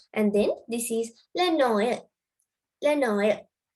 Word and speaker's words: Noël: So the word pronunciation is le Noël. අපි pronounce කරන්නේ le Noël කියලා.